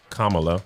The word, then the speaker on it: Kamala: Now, if y'all can't hear or understand, he said her name is pronounced Kamala.